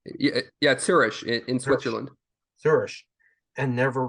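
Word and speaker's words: Zürich: URI is that correct the city am I pronouncing the city name yeah yeah sirish in Switzerland zish and never returned the thing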